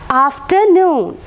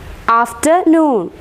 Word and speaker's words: afternoon: third one third category afternoon afternoon so here both the syllables are stressed after as well as noon is stressed afternoon after and noon